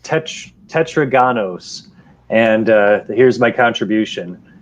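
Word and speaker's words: τετράγωνος: max already heard all this here it's uh pronounced tetraganos and uh here's my contribution and it means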